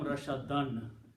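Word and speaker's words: رَشَدًا: So actual word rashadun will become rashadan with 2 fathas, and when you stop, you pronounce rashada.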